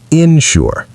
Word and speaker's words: insure: Insure is pronounced insure. Also stressed on the second syllable.